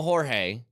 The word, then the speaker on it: Jorge: He spells it Jorge, pronounces it George. I gave him a Jorge, and he goes, "That's actually the right way to say my name, but I just say George, so you can just say George."